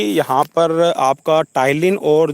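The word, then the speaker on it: ptyalin: spelling आपकी क्या रहेगी टाइलिन की तो जो टाइलिन है उसकी शुरुआत इससे पी से होगी और पी यहां पे साइलेंस रहेगा कंटेंस टाइलिन एंड स्लेवरी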